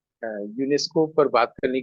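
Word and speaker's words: Ionesco: एन एस सी ओ आईनेस्को लोग बोलते हैं लेकिन उच्चारण फ्रेंच में यूनेस्को यूजीन यूनेस्को तो उनकी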